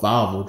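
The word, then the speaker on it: Wawel: it's called it's called vvo Dragon they pronounce their W's with a V sound they have this statue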